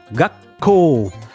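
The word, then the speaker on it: 学校: fini qu'il avait gasco gacko petite interruption sur la première syllabe et on prolonge le coc qu'on prolonge le co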